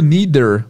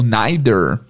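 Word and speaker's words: neither: com mais calma mas basicamente o líder ou neider dependendo da pessoa que pronunciar ele significa também não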